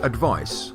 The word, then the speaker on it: advice: the verb the noun advice has a c which is pronounced like an s and the verb advise